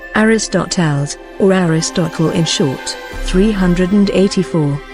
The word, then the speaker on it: Ἀριστοτέλης: Aristotle, ancient Greek, Aristotelēs, ancient Greek pronunciation, Aristotelēs, or Aristotle in short, 384, March 7, 322 BC, ancient Greek philosopher.